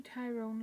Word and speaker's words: Tyrone: You've got County Down, County Tyrone, like the boy's name.